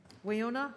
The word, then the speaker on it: Wayona: Wayona, is that how you say it? It is Yep. Wayona, yes. Thank you.